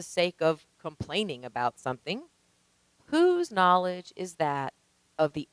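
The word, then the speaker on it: P'u: describes another taoist concept that of who now unlike our buddy winnie the pooh this one is spelled p apostrophe u and what it means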